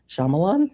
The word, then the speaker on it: Shyamalan: Night Shyamalan, is that how you say his name?